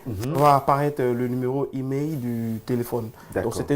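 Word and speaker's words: IMEI: Comment ça s'appelle? Email. Email. Email. Ça s'écrit I-M-E-I.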